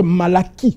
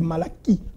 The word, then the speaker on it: Malachie: une page blanche entre Malachie, que vous appelez Malachi, ce n'est pas Malachi, c'est Malachie. Tous les CH en hébreu se prononcent K.